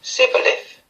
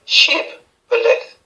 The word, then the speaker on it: Shibboleth: "Then said they unto him, Say now Sibboleth. And he said, Sibboleth." Sorry, I'm pronouncing it wrong. Judges 12 verse 6. Then said they unto him, Say Shibboleth.